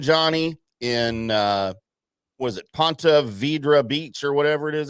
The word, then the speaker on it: Ponte Vedra: a big weekend Johnny in uh was it Ponte Vedra Beach or whatever it is out there we'll just call it Jacksonville that's a little I thought it was I always thought it was Ponte Verde Beach well you've never been really good at